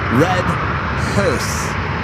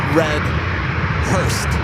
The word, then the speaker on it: Red Hearse: Red Hearse, not Red Hurst. Red Hearse.